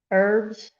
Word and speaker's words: herb: i'd hurt your feelings herbs herbs herbs hairs herbs herbs h is silentless it's a name i speak english so i say herb herbs at least you got